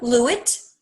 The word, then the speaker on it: Lewit: tell us your full name yes i'm lewitt i spell that please uh that's last name lewitt